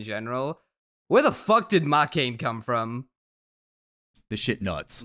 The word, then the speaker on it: Makeine: Well, okay, I mispronounced the name, but when they put the E and the I next to each other like that, you have to say like K as one syllable. So it's Makeine. So it's not Makeine, it's like Makeine.